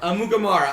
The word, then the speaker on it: Amukamara: Amukamara.